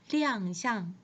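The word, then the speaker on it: 亮相: 이때는 쌍이 일성으로 발음이 되지만 어떤 모습, 형상 이런 것들을 표현을 할 때는 사성으로 발음이 됩니다. 그래서 亮相在即 이렇게 발음이 됩니다.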